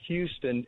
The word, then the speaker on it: Houston: corner of Bleecker Street and Houston which is pronounced Houston everywhere but there was another restaurant on that